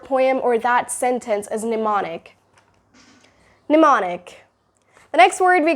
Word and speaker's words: mnemonic: Mnemonic. The spelling is M-N-E-M-O-N-I-C, but it's mnemonic.